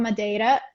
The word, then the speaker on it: Madeira: Do I pronounce it right? Madeira? Madeira.